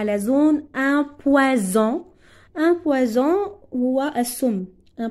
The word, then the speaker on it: poison: même chose ici un poison est-ce entre deux voyelles ça se prononce Z un poison donc vous